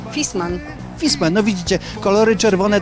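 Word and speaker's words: Viessmann: Marka dobrze znana choć nazwa się okazuje często nieprawidłowo wymawiana jak to mówimy poprawnie fisman fisman no Widzicie kolory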